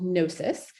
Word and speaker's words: gnosis: consume it the third one is called gnosis and that is spelled g-n-o-s-i-s and this term originated in what's